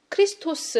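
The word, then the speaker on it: Χριστός: 그리스도 는 어떤 존재인가 그리스도는 헬라어로 크리스토 스 라는 발음을 가지고 있습니다 그런데 우리나라 말로 바뀌면서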